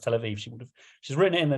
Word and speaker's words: Tel Aviv: It's called Tel Abib." And clearly, it's quite interesting to me because it would have been pronounced as a B.